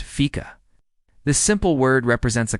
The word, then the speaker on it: Fika: A cherished and unique aspect of Swedish culture is the tradition of Fika, pronounced Fika.